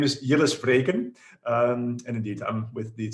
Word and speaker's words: Jilles Vreeken: mean everybody does this but my name is yellows freighten and indeed i'm with the cisco helmholtz center